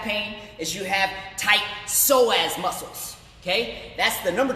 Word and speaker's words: psoas: And it's spelled with a P, psoas.